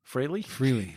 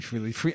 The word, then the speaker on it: Frehley: Frehley. No, that's definitely Frehley.